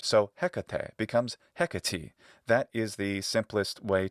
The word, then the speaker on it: Hecate: That final long e normally becomes an E sound. So Hecate becomes Hecate.